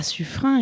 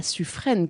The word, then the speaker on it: Suffren: Mais revenons à sufrain et tout d'abord à la prononciation puisque ce n'est pas sufraîne comme le disent beaucoup de Parisiens.